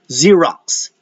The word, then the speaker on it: Xerox: All right, Xerox and xylophone. Those are pronounced with the Z sound.